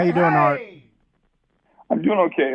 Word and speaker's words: Art: How you doing, Art? I'm doing okay. It's pronounced Alexakis.